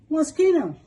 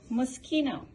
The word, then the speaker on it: Moschino: How do you pronounce this sucker? Mosquito. Moschino.